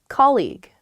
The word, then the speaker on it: colleague: had a coffee too colleague colleague yes colleague many of my students struggle with this they say colleague or they say colleague you or something cuz the spelling of this word is really really strange there's that gue at